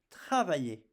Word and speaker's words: travaillez: Vous travaillez. And you see, I don't pronounce the Z, I just pronounce the sound E.